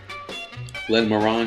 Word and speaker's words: Glenmorangie: Glenmorangie Scotch. Very nice. Single malt. Glenmorangie. Oh, look at me. Got to brush up on my Francais or whatever that. What is it? French? Scottish. It rhymes with orange.